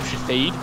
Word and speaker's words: Shithead: It's called I'm Shatheed, but it's spelled shithead, but it's like black chick and it's pronounced Shatheed.